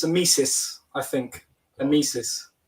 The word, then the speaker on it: Amicis: Well, my pronunciation was way off. I completely got that wrong, but thank you. Amicis, then we'll go with tonight.